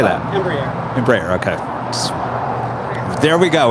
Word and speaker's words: Embraer: Embraer.